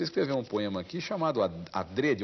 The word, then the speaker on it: adrede: chamado adrede o Aurélio Eu recomendo a treria a pronúncia fechada a Dred né que quer dizer de propósito feito de propósito alguns professores falam é muita gente fala dread mas o Aurélio eu recomenda a dradio que não quer dizer